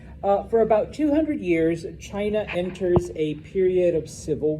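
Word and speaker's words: Qin: Um, out of those seven states, there is one, and I know it's spelled with a Q, but it's pronounced Chin, which is where we get the name China from.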